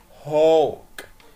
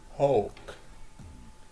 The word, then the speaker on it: hawk: ننتقل بعد كده الصورة اللي ظاهرة معانا صورة hawk hawk. ال A W بنطقها زي صوت حرف ال O hawk.